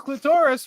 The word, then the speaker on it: clitoris: I was convinced it was clitoris for like ever, and then I hear everyone going clitoris, clitoris. Well, clitoris. because you're clitoris, you're putting the emphasis on the wrong syllable, and that's But I must have heard it that way.